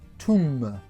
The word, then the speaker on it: tomb: des pop corn alors le mot tombe en anglais s'adonnent toum alors le haut se prononce ou et le bmu est tous mpt alors si vous croisez